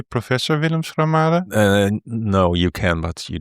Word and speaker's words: Schramade: Today I have Willem Schramade, the Dutch pronunciation. Do I have to say Professor Willem Schramade?